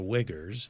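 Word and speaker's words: Uyghurs: doing in Tibet and it's pronounced the wiggers they're the Muslims who live in western China they've turned that into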